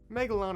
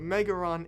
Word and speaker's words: Megalon: Typically, Megalon is pronounced as Megalo, but Megaron is, and yes, I'm serious, is a legitimate alternative, though less common.